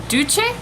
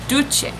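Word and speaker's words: Doucce: this is the uh du I think it's how you pronounce it d o u c c e du du um bombastic lash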